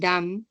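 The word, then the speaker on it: dumb: जी इट्स veg table B must not be heard and डाउट death and डम both leave it आउट सो डम के एंड पे भी बी is silent and then we हैड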